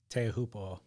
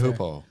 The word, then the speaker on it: Teahupo'o: Teahupo'o. Do you feel that scratched the record? Yeah, it did. There was a pause Teahupo'o.